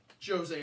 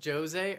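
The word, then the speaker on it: José: Is it Jose or Jose? Potato. I'm pretty sure he has an I think it's accent. Jose. He has an accent on the end of his name. I think it's Jose.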